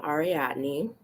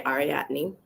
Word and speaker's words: Ariadne: So, um, I'm Ariadne. That's how you say it, Jay, by the way, Ariadne.